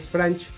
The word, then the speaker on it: Franch: Poco después Franch, o más bien Frank, se pronuncia Frank, los ataca en Manresa